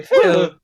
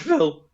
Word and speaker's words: Phil: Am I spelled pronouncing that PH correctly? Phil. Yeah, that's right, yeah, it's Phil. It's spelled PH voice crack IL. Phil.